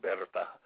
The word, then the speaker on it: Bertha: And that's where she met her best friend uh uh it looks like Bertha when you read it, but it's pronounced Berta.